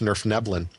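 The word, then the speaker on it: Svirfneblin: And I believe that their actual name is pronounced Nerfneblin.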